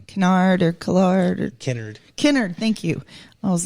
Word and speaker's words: Kennard: Kennard, thank you.